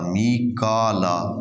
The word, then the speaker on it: میکائیل: لیے جبریل ہے، جبرائیل نہیں ہے، جبریل و میکالا، میکالا، فَإِنَّ اللَّهَ عَدُوٌّ لِّلْكَافِرِينَ، تو اگر کوئی ان